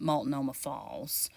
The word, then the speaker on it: Multnomah: to multnomah falls and i might be mispronouncing that but it's a consensus among residents that live here that that is how you pronounce it multnomah falls it definitely is a